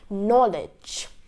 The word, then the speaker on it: knowledge: number one silence K whenever a k is accompanied by an N the K becomes silent okay so rule number